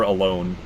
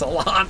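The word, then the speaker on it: Alonne: right down goes Alan how many people do you know pronounce him sir alone I hear that all the time sir alone it's Alan damn it he's got two ends sir Alan not sir alone maybe today you will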